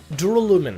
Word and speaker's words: duralumin: Inside the Duralumin case Byakuya had with him during the party, Duralumin.